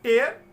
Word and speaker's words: tear: तो टेयर और टीयर ये अलग अलग प्रोनाउंसिएशन, अलग अलग मीनिंग देते हैं, जबकि इस वर्ड को लिखा एक जैसा ही जाता है with same spelling, TEAR।